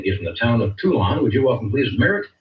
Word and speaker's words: Toulon: Well, so it could be Did I pronounce the town right? Is it Toulon? Toulon.